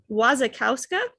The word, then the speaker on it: Wasikowska: It's Mia Wasikowska, I think is how you say her last name, but she's in it as well.